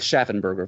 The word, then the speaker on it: Schaffenberger: I'm pronouncing that correctly often that that that particle shaffin is anglicized to schaer or schaen in English but since uh Mr schaffenberger is a first generation German immigrant he probably might have retained something closer to the original German pronunciation so I'm going to go with schaffenberger for the rest of this episode so Eric please let